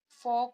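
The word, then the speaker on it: folk: एक मिनट बाद, L silent, वैसे तो एल सब जगह साइलेंट नहीं होता है, लेकिन कुछ ऐसी वर्तनी होती है जहां पर एल को साइलेंट रखा जाता है, यानी कि उसको नहीं पढ़ा जाता।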